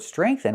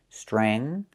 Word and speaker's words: strengthen: But in the word strengthen, we have e. The letter e with the short e sound like bed and red. So it's the sound e, not e. E again. Stre. Streng. Make the nasal sound for the ng. Strengthen. Use the th with no voice like think and thank you.